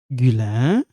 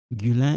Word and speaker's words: Guylain: So we have Guylain. This one, silent. Guylain et congolais. This one is silent.